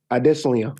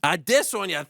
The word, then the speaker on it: Adesanya: Can you tell the world how to pronounce Israel's last name? Adesanya. Adesanya, thank you. Yeah. So what is this? How are they doing it? Adesanya. Israel Adesanya.